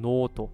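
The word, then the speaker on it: ノート: also hier das Notizheft wird eigentlich nicht notto sondern noto mit dem langen langezogenen o gesprochen not deswegen not die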